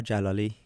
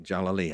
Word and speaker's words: Jalali: Jalali, who told me that you would say this differently to Iranians. So say it like you would say it to others. It's Jalali. All right, Jalali.